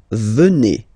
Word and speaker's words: venez: And then vous venez. Remember a Z combined like that? Et venez. Venez. Vous venez.